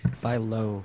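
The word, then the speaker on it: phyllo: I always say, is it phylo or phyto? Phylo. It's the phylo plane and the phylosphere. So wait, did you say five those? Phylo. Okay, so I just been saying it wrong.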